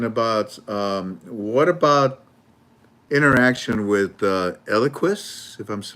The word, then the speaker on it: Eliquis: Somebody is asking about what about interaction with Eliquis, if I'm pronouncing that right?